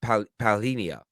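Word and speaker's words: Palhinha: got the zhao um i think his name is pronounced uh paulinia yesterday a very talented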